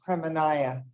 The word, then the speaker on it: Kremenaya: And it's spelled Kremena, but it's pronounced Kremenaya.